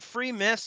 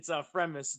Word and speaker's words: Fremis: Is it Free Miss? Is that how you say it? It's yeah, no, a lot of people get it wrong. It's Fremis.